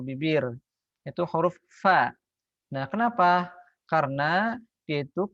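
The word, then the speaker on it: ف: Ada sebagian orang yang mengucapkan huruf fa itu seperti orang Sunda, misalkan pak gitu kan.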